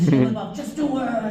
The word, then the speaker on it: Shia LaBeouf: Like, it's Shia LaBeouf, just do it. Like, and yeah, the shot. That's how you pronounce it. I was gonna pronounce his name. Sheila Buff.